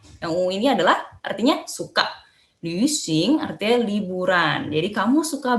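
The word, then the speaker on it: 旅行: Langsung ulang lagi kalau ada titik 2 di atas cara bacanya adalah nih mulutnya kalian bentuknya ya. Ketika kalian mau ngomong gitu, tapi suara yang kalian keluarkan adalah i. Jadi lu gitu.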